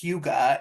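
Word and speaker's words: hygge: so the concept of I thought it was pronounced hii but it's pronounced Huga is a Danish concept that describes a feeling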